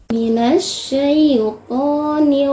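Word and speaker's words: من الشيطان: Kesalahan yang sering terjadi di dalam pengucapan kalimat ini adalah syai itu seringnya condong ke e atau e. Syai atau syai. Pengucapan syai itu lebih condong ke i dan diucapkan dengan lembut.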